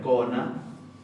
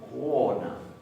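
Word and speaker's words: kona: Es pequeña la U, es muy pequeña. No tiene que ser wo, es o. Se cierra levemente la boca y se vuelve a abrir al momento de pronunciar la O. Entonces, por ejemplo, en la palabra mujer, no se pronuncia cona, sino que se dice cona.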